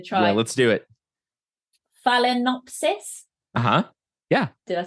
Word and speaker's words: Phalaenopsis: Phalaenopsis.